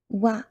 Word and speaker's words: は: If you have learned hiragana already, wa particle is written as ha. If you're in normal situation, you will read this one as ha in hiragana, but when it's used as particle, it's pronounced wa.